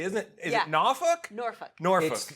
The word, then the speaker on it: Norfolk: Norfolk. Norfolk. How you want to say it. Great seafood and everything.